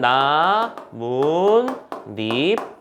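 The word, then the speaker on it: 나뭇잎: 세 번째, 니은 소리가 덧난다라고 하는 개념은 제일 대표적인 거 나무 플러스 잎. 발음하면 어떻게 되죠? 최종 발음은 나문잎.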